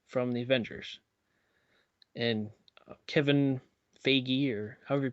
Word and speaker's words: Feige: And Kevin Feige, or however you pronounce his name. Yeah, Phage, because it rhymes with beige, but I don't know.